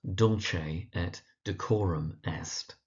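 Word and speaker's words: Dulce et Decorum Est: So that's Dolce at decorum est on the dull and the core. So Dolce at decorum est.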